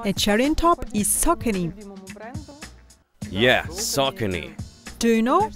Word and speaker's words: Saucony: cherry on top is saucony yes Saucony do you know that people are confused how to pronounce this name correct that's why the explanation appeared on the official web page it's like sock any you know salt and